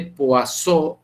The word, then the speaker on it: Poisson: Precisamente para este tipo de experimentos, el modelo de Poisson es el adecuado. Se escribe así, Poisson, pero eso se lee con elegancia en francés, ¿oyeron?